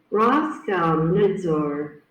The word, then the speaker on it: Roskomnadzor: Its name Roskomnadzor, that it pronounced like. Roskomnadzor.